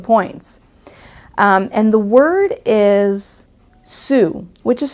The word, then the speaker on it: xu: And the word is sou, which is spelled XU, and it is the monetary unit of Vietnam.